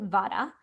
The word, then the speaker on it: vata: So let's start with vata. The vata dosha people pronounce it vada.